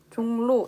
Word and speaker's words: 종로: 종로 역시 리을이지만 니은으로 발음이 나고 있습니다.